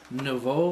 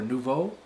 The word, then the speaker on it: Nouveau: It sounds like they're spelled Nouveau or Nouveau. N-O-U-V-E-A-U. I've had to spell that word so many times that it's very easy to remember now.